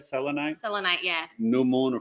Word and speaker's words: selenite: Selenite. Am I pronouncing it right? Selenite?